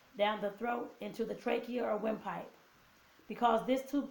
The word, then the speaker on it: trach: something called a tracheotomy, sometimes called a trach, which rhymes with the word make.